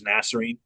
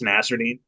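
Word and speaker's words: Nassourdine: I'm just gonna say fucking Nasruddin, which also forever on Shirt Dog they had it wrong and said it was Nasserine. It's Nasruddin.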